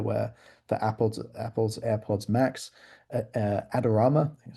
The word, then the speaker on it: Adorama: So this is a good example here where for Apple's AirPods Max, Adorama, that's how you pronounce it, are basically coming at the top.